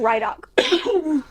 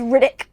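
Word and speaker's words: Ridoc: I call him Rydok. But apparently it's Riddick.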